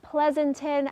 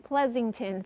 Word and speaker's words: Pleasanton: Uh we're seeing a little bit of activity in Pleasanton. I apologize to all the folks in Pleasanton for saying Pleasington for a while.